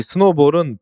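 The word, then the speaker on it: SNOBOL: 그냥 발음이 스노우볼입니다.이 이 스노볼은 벨 연구에서 1960년대에 만든 프로그래밍 언어로이 스노볼 4라는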